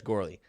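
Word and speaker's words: Goerli: on the track as grelly test merge success i think it's finalized girly girly grelly let us know in chat how that's pronounced but i'm pretty sure it's gourly yes yes a lot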